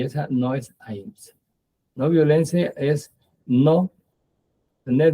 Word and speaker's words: ahimsa: El primero es ahimsa. Hay quien dice ahimsa, así, pero lo pronuncia como si fuera leído en inglés, porque ya se refieren al inglés. En inglés la H suena aquí.